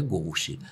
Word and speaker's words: gauche: E essa palavra é francesa, a pronúncia é gauche.